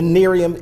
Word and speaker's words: Nerium: that's online information about this new product the Nerium International review am I saying that right you're